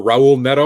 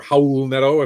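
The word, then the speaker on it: Raul Neto: ton more minutes for raul nedo or howl nedo if depending on how you pronounce it the the announcers usually drop the r um garrison matthews is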